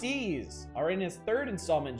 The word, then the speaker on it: Ys: game yep yep wanderers from ease pronounced ease or in his third